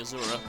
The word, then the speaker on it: Azura: in not bringing Azura. I mean, that didn't actually come out, right? Uh, basically no harm in bringing Azor actually is the right way to say it.